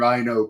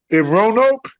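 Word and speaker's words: Roanoke: He's wondering how many years you actually lived in Rhino for Rono. Rono. Yeah. Sorry, I'm pronouncing it wrong.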